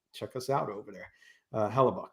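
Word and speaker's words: Hellebuyck: Graham's saying Hellbuck, Hellbuick. I don't know how to pronounce that one, Graham. Hellbuck isn't the same goalie in the playoffs. Hellebuck.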